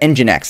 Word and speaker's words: nginx: or not nginx i'm not sure how to pronounce that nginx that's that's how you pronounce that um uh